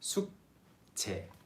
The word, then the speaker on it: 숙제: 숙제. It's written as 숙 and 제, but it's pronounced as 숙제.